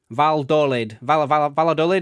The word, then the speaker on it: Valladolid: Double L is a Y in Spanish. Oh, I don't know. Valladolid, is that how you pronounce it?